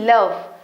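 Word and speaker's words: love: एल ओ वी ई लव a sound.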